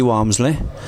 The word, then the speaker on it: Walmsley: see you on Facebook yeah it's it's womsley and I I'll I'll spell it for you it's v i NC Y